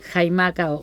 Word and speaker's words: Xaimaca: Escribe Jaimaca, se escribe con X, Xaimaca.